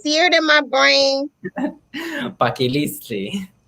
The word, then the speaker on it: Paquilitzi: Paquiliztli. Paquiliztli.